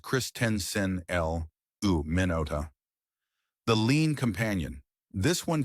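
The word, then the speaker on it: Christensenella minuta: And now the fourth microbe, chrysenella manuda, pronounced christen l u minota, the lean companion.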